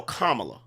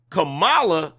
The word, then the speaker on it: Kamala: how you would spell that you probably would spell it KO m m a l a that would spell commala Kamala is k a m a l a that's Cala we know how to